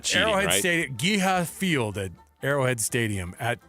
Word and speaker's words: GEHA: Do we Do we just Do we say the letters or do we pronounce the whole thing? Oh, so it's Ge Ha here.